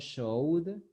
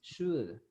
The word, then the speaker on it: should: Is not showed, it is should. You don't pronounce the letter O, you don't pronounce the letter L, you only say should.